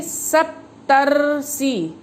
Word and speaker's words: सप्तर्षि: जब हम सप्तर्षि का उच्चारण करते हैं तो उस उच्चारण में अर शब्द निकलता है। जैसे सप्तर्षि, सप्तर्षि। आप ध्यान दीजिए, इसमें अर शब्द का बीच में सप्त के बाद अर शब्द आ रहा है तो इस प्रकार